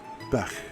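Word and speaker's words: beach: Now, the Irish word for bee is beck, pronounced beck, with a soft CH sound in the back of your mouth.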